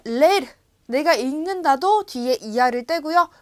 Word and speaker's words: leer: 여기 이가 2번 있잖아요. 그래서 leer, 읽다 라는 뜻입니다.